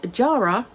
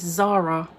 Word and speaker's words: Jara: Next up, I read Jara by S.J. Jones. I was pronouncing this Zara. Then I listened to the audiobook, and it is in fact Jara.